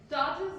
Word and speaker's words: tortoise: हैं कि आप due to wrong stress, you pronounce them the wrong way. One of the examples is Tortoise. Tortoise. Anyone? Tortoise. Tortoise is correct.